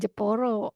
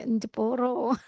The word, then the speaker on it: Jepara: Iya kalau Pak Arif Jepara itu bacanya jeporo pakai pakai n depnya pasti Enjporo.